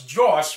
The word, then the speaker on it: Jwsh: just cracked me up it took me a while to figure out how to pronounce it but yeah it's josh murdock um the bandit henchmen